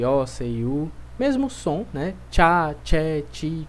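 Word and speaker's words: ciao: ócio mesmo som né tchau tchau só tem um cuidado para não forçar o som da letra aí então nós fizemos tchau tchau elofit Ok não tem que pelo menos na segunda eu não fiz som de ir muito forte né Eu não disse Cielo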